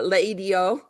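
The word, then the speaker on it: L'Idiot: Uh, Leidio in LA Story, one of my favorite movies of all time. That's a fancy restaurant that's called Leo, but it's spelled L apostrophe idiot because it's it's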